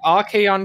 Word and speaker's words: Archaon: because you wouldn't know, given the CH, you could pronounce it as Archaon. Yeah, it's an unusual one, but that hard k sound, you'd think it'd be a K, maybe. Archaon.